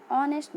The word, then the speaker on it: honest: See the example: an hour, an honest man. As you can see the word hour and honest, H is silent and it starts with a consonant letter but produces the sound of a vowel O.